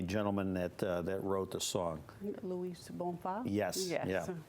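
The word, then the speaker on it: Luiz Bonfá: I want to make sure the pronunciation of the gentleman that wrote the song. Louis Bonfa?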